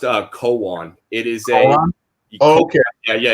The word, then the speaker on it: Koan: way it's pronounced uh koan it is a okay yeah yeah yeah like a zen like a zen cone yeah yeah it has